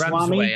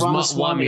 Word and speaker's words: Ramaswamy: I think it's Vivek Ramsway, I think. Vivek Ramaswamy, or I think something, yeah.